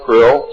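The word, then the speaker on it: Krll: His name and title was His Omnipotent Highness Krill, pronounced Krill, spelled K-R-L-L-L or C-R-L-L-L.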